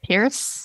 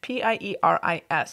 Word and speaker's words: Pieris: How does one pronounce that word? Let's find out. Pieris? Pieris? P-I-E-R-I-S.